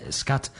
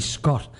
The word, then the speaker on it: scotoma: I suppose the Ray says scat. It's actually Scott.